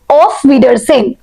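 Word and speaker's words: Auf Wiedersehen: Basically এটাকে যখন উচ্চারণ করবে তখন বলবে অফডারজেন। অফ ডারজেন।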